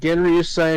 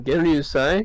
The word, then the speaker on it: Genryusai: Genri Yusai Shigekuni Yamamoto, the head captain of Squad 1, formerly, he is now, unalive.